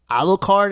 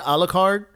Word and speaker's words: Alucard: Do you remember Alucard? Am I pronouncing that right? Alucard, the son of Dracula?